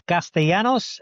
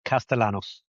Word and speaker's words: Castellanos: In Spanish it's Castellanos and in English it's Castellanos.